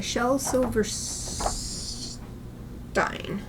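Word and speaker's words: Shel Silverstein: This is clearly a German German. Listen to this. Definitely German.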